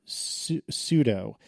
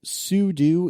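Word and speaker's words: sudo: will start by saying I have always pronounced it pseudo and I understand that it stands for super user do so sud do is probably the more academically correct answer but I've always pronounced it pseudo I had to think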